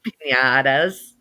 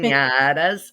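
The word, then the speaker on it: piñata: Pinatas. As Pinatas. Pin- pinatas.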